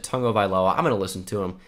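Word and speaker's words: Tagovailoa: this quite a bit it's not toggle by Lois I know it looks like it but he pronounces it tongue of Eylau I'm gonna listen to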